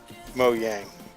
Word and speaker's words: Mojang: right about Mojang because I think it should be pronounced Mo yang I don't know like